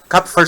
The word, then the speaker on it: Kupffer: Kupffer cells. Kupffer cells. Yeah. Sometimes they don't have the P, but Kupffer cells. The P is silent.